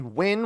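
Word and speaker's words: Nguyen: So the orange player was General Nye, or, well, that's pronounced, it's normally Win when it's got the EN. So General Wee, that's what we'll go with.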